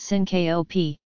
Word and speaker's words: syncope: to an emergency room it is pronounced CIN Kop syncope is due to